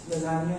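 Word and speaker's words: lasagna: मैं अपनी लजानिया ही होता है वो, लजान वो एक्चुअली लिखा हुआ है ऐसे नहीं होता है, लजानिया बोलता बोलता है। लजान लिखा है, वो लिखा स्पेलिंग वही होती है, ठीक है। सो लजानिया इज the word, okay.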